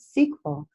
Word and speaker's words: SQL: so it's got itself I've always said SQL and then everything for many years that people pronounce that sequel and some trying to